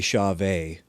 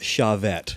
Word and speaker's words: Chauvet: And maybe we should just take a second here to tell the internet that it is officially Chauvet, not Chauvet.